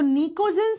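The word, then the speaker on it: pnictogen: Latin भाषा से इसको निकोजन फैमिली भी बोलते हैं देखो लिखा जाएगा पी से प्रोनाउंस किया जाएगा एन से तो अगर आपसे पूछ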